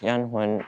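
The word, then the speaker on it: Danh Huynh: So, what is your first and last name and how do you spell it? My name is Yan Hen and um it's D A N H and H U Y N H.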